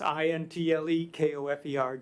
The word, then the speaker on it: Intlekofer: I'll even pronounce it for you. My name is Intelkofer, and it's Intlekofer, just as you said.